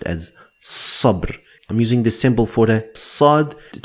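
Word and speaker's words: صبر: They look the same in these two parts, but they are separate and it's pronounced as sabr.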